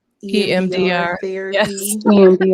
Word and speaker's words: EMDR: EMDR EMDR. Yes. therapy. EMDR.